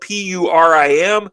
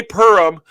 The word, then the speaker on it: Purim: the Jewish feast of Purim. It's spelled P-U-R-I-M, and some of us Gentiles say Purim. Don't do that. If you say Purim to a Jewish person, they're going to laugh at you. It's Purim.